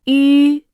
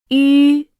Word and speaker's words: 吁: 吁、吁，吁， When pronouncing this sound, the lips form a rounded shape, nearly closed, with the tip of the tongue touching the lower gum ridge, the front part of the tongue arching upwards, and the vocal cords vibrating.